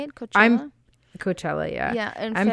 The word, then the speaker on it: Coachella: Coachella?